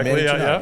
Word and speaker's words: Manny Janard: This is the Sharing Wheel, and today we have Manny Janard. Yes. Pronounce it correctly. Yeah, Manny Janard.